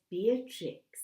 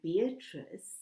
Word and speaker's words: Beatrix: fact that he refers to the child as Beatrix rather than beatric suggests an affectionate mispronunciation of the name but it may also